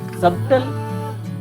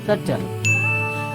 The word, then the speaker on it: subtle: सबटल. This is incorrect. Correct क्या है? This is subtle.